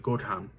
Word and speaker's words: Gotham: And he got it from the English village near Nottingham of that spelling, but they pronounce it Gotham. And it means goat town.